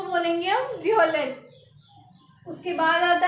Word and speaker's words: violet: Guys, ये भी purple colour ही है जो मैंने पहना हुआ है, तो हम इसको बोलेंगे वियोलेट। क्या बोलेंगे? वियोलेट। तो इसको लिखेंगे कैसे? VIOLET और इसकी प्रोनाउंसिएशन होगी VEEOHLAY।